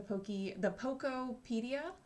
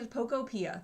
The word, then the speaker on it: Pokopia: I'm also going to look into the Pokopedia, that new game. I'm probably saying it wrong. It's probably Pokopia.